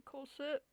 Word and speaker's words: corset: The pronunciation is spelled Kaw with the dash there. Suht. Corset. You guys can hear. Oh, you guys can hear it. Corset. Corset. Corset. Corset. We don't pronounce the T in Australia.